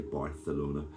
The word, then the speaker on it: Barcelona: Have to pronounce the C properly, Barcelona.